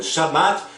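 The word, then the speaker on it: שבת: Agora, analisando o Shabat judeu da Torá, no judaísmo o sábado, em hebraico pronunciado como Shabat, significa descanso, cessão ou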